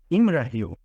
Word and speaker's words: Imrahil: Príncipe Imrahil de Imrahil. É assim que se pronuncia, de Dol Amroth.